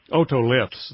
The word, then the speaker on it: otoliths: Otoliths, is that how you pronounce it? Otoliths, that means ear stone.